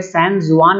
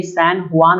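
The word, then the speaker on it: San Juan: इसका जो राजधानी है यहाँ पे सैन जुआन नहीं है, ये सैन हुआन हुआ है, ठीक है। जो प्रोनाउंसिएशन यहाँ पे होगा वो सैन हुआन होता है, लेकिन लिखा जाता है सैन जुआन।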